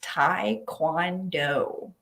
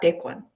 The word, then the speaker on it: Taekwondo: abroad like in America it's pronounced Thai cuando Taekwondo not take one Taekwondo so it's this like super different pronunciation let's see uh oh